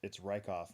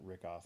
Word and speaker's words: Rykoff: Or like the guys down in Newton, I've probably mispronounced Matt Rykoff name for like many years now, and they finally said it's Rykoff, not Rickoff, and I'm like, oh, like, well, why didn't you guys tell me that like the first time?